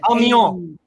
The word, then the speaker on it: Amiens: A-M-I-N-S. I can't pronounce it. Amiens. Amiens. Okay, Amiens. Oh, there you go.